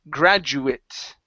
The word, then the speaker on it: graduate: okay so this isn't this is the noun when it is the noun we say it when it is the verb we say eight okay so as a noun this is graduate okay as the verb to graduate it's an AE sound ok so let's try